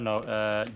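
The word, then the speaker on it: 円: Also, fun fact: the yen in Japanese is just N. Oh yeah, it's pronounced N.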